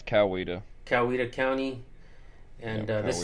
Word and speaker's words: Coweta: It's Coweta.